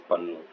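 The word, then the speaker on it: పన్ను: And the point in Telugu language is like the word tooth. and the word tax, both are the same. They are pronounced as Pannu.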